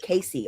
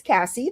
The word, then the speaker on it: Cassie: I always get no one knows how to pronounce Cassie for some reason. I get Casey all the time. What? So when I introduce myself in corporate settings, I have taken to saying it's Cassie.